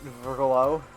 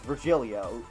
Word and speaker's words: Virgilio: bartender you look winded virgolo virgilio it's pronounced but Helio no I'm pretty sure it's virgilio you said as much the last time you came pronunciations are a silly